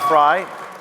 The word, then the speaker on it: Frei: Known as Viva Frei, Fry, to many of you